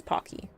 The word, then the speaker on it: Pocky: However you want to pronounce. I don't It's Pocky.